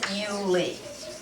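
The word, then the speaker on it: Iuli: marus becomes marap and so we say Julius if we're talking to Julius it becomes ulie so a US becomes a short e and a i us becomes an i and that is why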